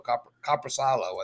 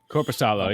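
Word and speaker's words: Korpisalo: So Coppersalo, I think is how you say his name, right? It's Corpusalo. Yep.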